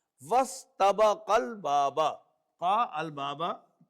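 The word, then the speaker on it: وَاسْتَبَقَا الْبَابَ: So when waw is available to join seen, so this will an alif written but not pronounced. Wastabaqal baba. Qa al baba. Wastabaqal baba.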